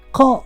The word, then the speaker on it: ق: Qa, on the other hand, does not have an English counterpart, so you may find it difficult to pronounce. And don't replace Qa with Ka, cause we already have the letter Ka in Arabic, and we don't need to pronounce 2 letters the same. The letter Qa is uvular sound. It means that comes from the uvula, which is the fleshy